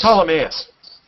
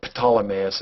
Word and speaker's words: Ptolemaeus: It's Ptolemaeus. Ptolemaeus, okay, that's how you pronounce it. Or Ptolemaeus, as Carl Sagan would have said.